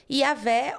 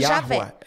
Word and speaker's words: Iavé: Então, a provável pronúncia seria Iavé ou aportuguesando Javé.